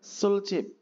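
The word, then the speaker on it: 술집: Kemudian ada sulip ya dibacanya sul cip.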